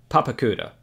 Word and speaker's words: Papakura: papakura um just so you know it's actually pronounced papakura anyway what ended up happening is the tour